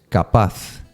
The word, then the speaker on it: capaz: Capaz, and this one is tricky to pronounce. Capaz, with the Z at the end.